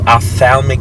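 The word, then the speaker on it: ophthalmic: I've been in the Opthalmic field and yes that's how you say it offal o pH is o f so I've been in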